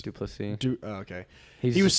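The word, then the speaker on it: du Plessis: And then Drick, how do you pronounce his name? Duplessis. Duplessis.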